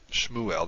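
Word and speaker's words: שְׁמוּאֵל: hebrew shmuel and this according to our rule the shabazz at the beginning of a syllable therefore it's vocal beginning of a word is obviously the beginning of a syllable so shmuel now you can hear that you don't pronounce the shiva very much shmuel it's almost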